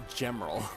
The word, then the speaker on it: Gemerl: How do you feel about the official pronunciation of now we know for sure it is Gemerl. It is now officially Gemerl instead of Gemerl or anything like that.